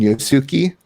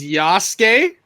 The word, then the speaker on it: Yasuke: It's Yasuke, and Naue. There we go. Naue. Okay, so I would have been like spelling it Noway.